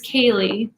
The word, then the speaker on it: Kaleigh: My name is Kaleigh, and it's spelled K-A-L-E-I-G-H, like the long way of Lee.